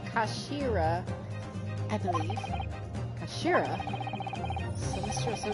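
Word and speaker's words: 頭: of the hilt yes it's written as head in japanese but it's pronounced as uh kashira i believe kashira sinistra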